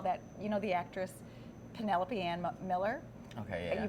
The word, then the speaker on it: Penelope: They're like, that's Penelope. Oh. Who would ever pronounce that Penelope? It's Penelope. It's like, I thought it rhymed with antelope. Yeah. Antelope, cantaloupe, penelope.